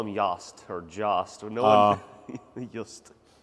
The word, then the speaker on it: Jost: Just. Just. Yes. Just fifth wheel. And where are they made at? I think Netherlands. Yeah, we call them Jost or Jost.